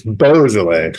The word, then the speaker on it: Beaujolais: Cru Beaujolais. What is it? Beaujolais. Sounds like you're saying the Halloween version of the the region. Beaujolais. It's Beaujolais. Beaujolais. Yeah, there you go. How about it's however I pronounce?